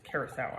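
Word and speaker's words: curaçao: You guys all know that I pronounce this incorrectly constantly, but that is actually how you pronounce it, curacao.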